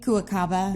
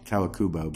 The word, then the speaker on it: Kawakubo: I have Ray Kawakaba. Yeah. If that's how you say it. Kawakubo. Kawakubo.